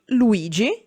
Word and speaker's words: Luigi: In the middle of it, for example, Luigi, Lu-i-gi, or at its end, for example, invei, in-ve-i.